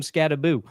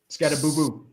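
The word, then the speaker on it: Skattebo: The people talking to him were calling him Scataboo. Scataboo. Where's the other O?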